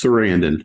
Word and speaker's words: Sarandon: that's right right yeah say it like you'd say Susan's name Chris Sarandon okay Jesus this is